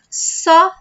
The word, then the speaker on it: só: When you have this diacritic mark, like this thing at the top of the letter, this one means you have to say that letter more openly. So it's not so, so, no, it's só, só, okay? Open, só.